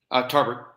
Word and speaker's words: Tarbert: Tarbert.